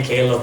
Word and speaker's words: Caleb: Kenapa Caleb? Karena nama saya ditulis dengan English version, Pak. Jadi bacanya Caleb gitu.